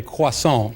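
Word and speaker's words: croissant: States name it that is a if my pronunciation is correct a quason that is correct good enough close enough aant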